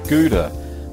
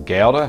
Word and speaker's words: Gouda: Well, today we're going to be making Gouda, or Gouda, it depends on how you want to pronounce it.